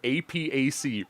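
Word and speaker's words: AIPAC: it's like freaking associate it's an acronym APAC pronounced Apac and he has it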